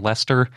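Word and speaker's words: Leicester: the rutland dinosaur and you're googling lester it's spelled l-e-i-c-e-s-t-e-r which is not how i would spell lester yes well as an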